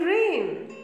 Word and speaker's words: reign: IG n over here G is silent so the pronunciation is same the rain rain and rain are e IG and